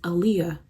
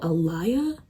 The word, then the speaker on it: Aaliyah: I'll be like, "Oh, my name is Aaliyah." Which is not a hard name to pronounce. And they'll be like, "Oh, Eliia. Alia. I got called Elijah one time. Where did you get Elijah from? Where did you get the J from?"